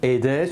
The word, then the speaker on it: Aedes: éviter toute polémique inutile j'ai prononcé moustique aedes mais je pense que le à eux en latin peut également se prononcer aille donc les latinistes pourront me le confirmer enfin du moins confirmé que les deux prononciation sont valables si devant on parlera